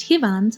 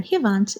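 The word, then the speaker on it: հիվանդ: If you guessed Hivand or Hivant, you're right. This means sick. Hand in Eastern Armenian, Hivant in Western Armenian.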